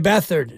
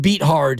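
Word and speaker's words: Beathard: last night love CJ bethard CJ beat hard is uh the actual pronunciation According to some you look at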